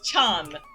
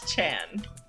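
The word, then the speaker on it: ちゃん: taken some effort into actually pronouncing Chan like the correct way, because it's Chan, not Chan.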